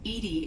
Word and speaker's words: EDI: is a jar why are you named Edie Edie is the the phonetic pronunciation of e di that is an acronym